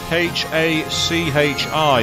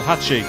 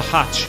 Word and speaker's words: Hachi: Literally Hachi. That's how you pronounce it. It's sometimes abbreviated to hatch, depending on the dialect or the construct of the sentence, but usually Hachi is the official way.